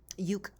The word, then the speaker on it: euk: Euc rhymes with nuke.